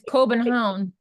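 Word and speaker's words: København: it in Danish and the G is like the Y sound like we were talking the it's Coen Hound in like old like the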